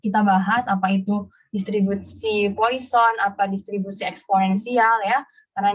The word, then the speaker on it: Poisson: statistik, dia nyebutin bahwa ini namanya distribusi Poisson ya, bukan Poisson gitu, karena ini bahasanya dari apa, bahasa Prancis kali ya, jadi disebut bacanya itu distribusi Poisson.